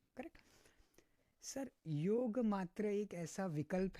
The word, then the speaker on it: योग: यस, हम्म, ये जो योगा है वो वेस्टर्न वर्ल्ड ने निकाला है, हाँ। बिकॉज उनको प्रोनाउंस करने नहीं आता था। हम्म, सो दे यूज to talk like योगा योगा। हम्म, नो, इट्स नॉट योगा, इट्स योग।